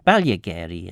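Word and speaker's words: Ballagarey: Balageri or Balageri or Balageri as it would be. Um well you'd say it in English, wouldn't you? Balageri. Balagari in in Monx.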